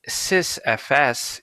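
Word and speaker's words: sysfs: s syst now us sys fs if we were to pronounce it more correctly provides a uniform view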